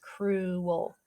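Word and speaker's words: crewel: cruel was either excited kind of sounds like the word cruel like when somebody's mean but that's a one syllable word cruel this is two syllables cruel it's a special kind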